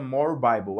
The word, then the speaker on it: More Bible: Se digita more bibly, mas se pronuncia more bible.